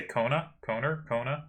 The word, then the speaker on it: Kona: And then, as mentioned, he kept defeating other tournament winners to keep his title, defeating, I said Kana earlier, I've been told I'm supposed to say Kona, something like that.